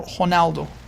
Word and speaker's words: Ronaldo: The R in Portuguese is like a H. So, when you say Cristiano Ronaldo, it's more like Cristiano Honaldo.